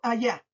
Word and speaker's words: allá: Ahora voy a, por ejemplo, allá. Allá. Dice allá. Tiene 2 sílabas. Allá. Tiene 2 sílabas. ¿Dónde se carga la voz? A última, penúltima. Ah, la voz se carga en la última sílaba y según la regla